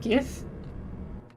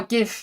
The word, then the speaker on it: GIF: I think the creator of GIFs or something said it's pronounced GIF. And I would have unfollowed. Oh, yeah, I get it. GIF just sounds much better. It's much more pleasant. But I think people actually went on to say why it makes more sense to say it was a soft G.